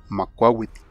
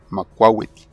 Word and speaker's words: Macuahuitl: Se le llama Macuahuitl. Macuahuitl.